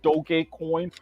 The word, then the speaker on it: Dogecoin: the memes and everything else, it is fucking Dogecoin, no matter what some batshit crazy South African with fucking Asperger's wants to call it.